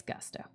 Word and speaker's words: gusto: It's gusto. With gusto until he finally reached the hospital in Koen. There's a payroll provider called Gusto. And so I'm used to pronouncing it Gusto. It's gusto for the word.